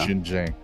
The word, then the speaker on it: Xinjiang: Xinjiang.